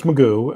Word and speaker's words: McGough: So Magoo, as you said, it's spelled McGough, but it's Magoo.